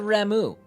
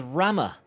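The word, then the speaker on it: Ramuh: She said Ramu. You guys made fun of me when I said Ramu. So you guys made me say, but other games they pronounce it as Rama.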